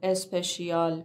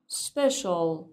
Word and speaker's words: special: بچه ها به تلفظ این کلمه دقت کنین، نمیگم اسپشیال، میگم special. special.